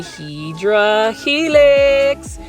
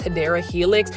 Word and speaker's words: Hedera helix: And whenever you're at Kroger, you know I'm gonna say Hydra helix. Now, for those that are new to the channel, I just kind of mispronounce Hedera helix.